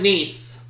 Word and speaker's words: Nice: go city's 200 please this French resort city is pronounced like your brother's daughter what is nice I'll have cities 300